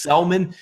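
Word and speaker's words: Senga: The Atlanta Braves and Tehran are going to take on the Silent G for the New York Mets. That is Selman.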